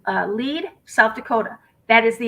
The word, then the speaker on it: Lead: out um it says leed south dakota that is the exact same spot damian wasn't it because we were pronouncing it lead and people were correcting us it is legal south